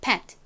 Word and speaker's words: pet: 빨리 발음할 때는 끝에 it 소리가 거의 안 들려서 그냥 pet 요렇게 발음이 나는데요. 또박또박 천천히 발음할 때에는 이 t가 가진 t 소리가 살짝 들어갑니다. 그래서 pet, pet 요렇게 발음이 돼요.